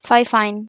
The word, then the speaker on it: FIFINE: кінця Привіт Мені компанія ffine заслала мікрофон який має назву ffine am8 і воно дійсно вимовляється Саме так ffine також додатково до нього